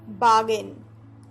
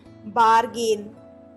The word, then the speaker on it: bargain: Next verb है बार्गेन, spelling है BARGAIN। Pressure देके नहीं बोलना है बार्गेन, नहीं, ऐसे नहीं बोलना है। क्या पढ़ना है? बार्गन, बार्गन।